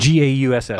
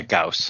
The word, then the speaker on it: Gauss: G-A-U-S-S. Oh, you know. yeah, Gauss.